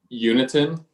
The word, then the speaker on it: Uniton: Uniton. Uniton, just how it's spelled.